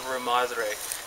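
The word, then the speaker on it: Rarámuri: Yeah, say it right. You have to let the R's roll. It's called the Ramadre.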